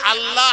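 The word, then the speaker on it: الله: আল্লাহ এমন একটা শব্দ, একে যদি আল্লাহ আলিফ লাম লাম হে এইটার উচ্চারণ হয় আল্লাহ।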